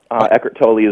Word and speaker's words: Eckhart Tolle: Am I pronouncing Eckart's last name right? Yeah, Eckhart Tolle is good.